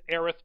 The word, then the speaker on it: Aerith: no matter what but I'm gonna go with Aerith because I believe dyslexic on they would know